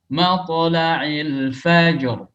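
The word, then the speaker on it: مطلع الفجر: Matla'il fajr. Tonya yang tebal, lamnya tipis. Matla. Namun kebanyakan orang salah gara-gara to yang tebal, lamnya ikut ketebalan.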